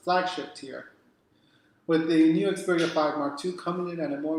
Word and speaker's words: Xperia 5 Mark II: yeah, the Xperia 5 Mark II.